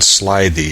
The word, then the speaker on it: slithy: The I in slithy is long, as in writhe, and toves is pronounced so as to rhyme with groves.